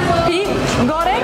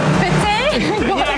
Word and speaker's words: pete goreng: Maybe peep goreng? No, peep. What is it? Try again. Pete goreng. Yes. Pete. Pete goreng, yeah.